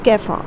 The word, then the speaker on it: kefir: okay so this is what you call is kefir and these are also used for health benefits or it's just simply a drink people do it people drink it so it's kefir it's a it's basically a fermented milk we